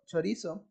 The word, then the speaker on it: chorizo: We have the word chorizo. Chorizo will be pronounced as chorizo. You notice that I do not pronounce the S or the Z. We say it like chorizo.